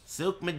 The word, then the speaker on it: Souq Madik: Souq Madik. Game one. I like that one. That's a good one. That's the full and correct pronunciation for this stage in Arabic.